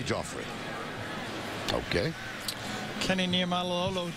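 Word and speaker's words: Geoffrey: fund left side Joffrey what's spelled the same way is Jeffrey bacon GE o FF re why he said please call me Jeffrey okay kenny near milo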